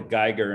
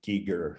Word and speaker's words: Giger: yeah i think it i always called the geiger and then someone corrected me one day and said he pronounced it giger so no he's he's free to pronounce his